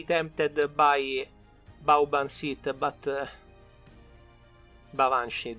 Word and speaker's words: Baobhan Sith: Then the second I'm actually very tempted by Baobhan Sith, but Baobhan Sith technically is how it's said, but there is another.